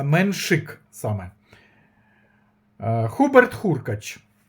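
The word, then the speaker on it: Menšík: Не Менжик, а Меншик. Саме Хуберт Хуркач. Я сказав, що досвідченіший, але я вірю в талант Меншика.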